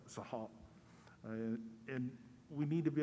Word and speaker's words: Seattle: pronounce it along but it's a chief sahal not not seattle but sahab and we need to